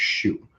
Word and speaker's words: SHU: you're going to serve shu time pronounced shoe in the special housing